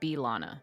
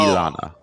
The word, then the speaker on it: Bilana: I thought Dan said Lana. I wasn't there, but okay. Yes. Oh. Bilana. Lana. Oh, okay. I misheard you. Yeah, her name's... you did not pronounce the B sound, so it sounded like